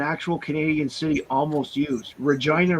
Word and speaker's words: Regina: Canadian city almost used Regina rhymes with fun very good then that's